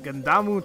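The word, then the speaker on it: Gundham: Gundamu Tanaka. He apparently is the high school level animal breeder. Okay. And yeah, I know it says Gundamu or whatever, but he's pronounced him like Gundam, I believe.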